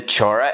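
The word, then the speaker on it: Chola: up southern india the main ones were the chora empire so it's spelled c-h-o-l-a but it's pronounced as chora anyway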